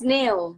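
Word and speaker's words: Nao: Yes, Neo.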